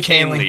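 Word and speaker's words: Kahnle: you here Yankee fan I need you to pronounce this guy's name kingly Kaylee Tommy Kaylee thank you that's it that's what he that's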